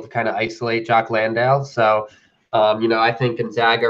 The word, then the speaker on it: Landale: How good is Landale? Did I say that? Yeah, I pronounced that correctly.